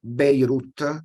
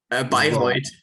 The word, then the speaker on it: Bayreuth: He got recently a PhD in physics at the University of Beirut. It's right, the pronunciation, or Bayreuth.